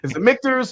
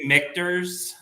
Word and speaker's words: Michter's: you from Brian Mackey how does Dan pronounce mictors is it Victors or do you say mixtures no it is a it's a great question uh it is mictors so if you go